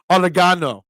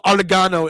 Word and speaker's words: oregano: Gordon Ramsey cooking and instead of saying oregano he says orano put a little oregano on that there just say it like the way it is oregano um Clowney left the